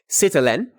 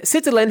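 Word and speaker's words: sitelen: the center to indicate some kind of writing it's spelled s i t e l e n citalian and citilin has to do with art writing systems drawing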